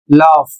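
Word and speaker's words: laugh: शब्द लिखा है एल ए यू जी एच इसे पढ़ा जाता है लॉफ और इसकी हिंदी होती है हंसना।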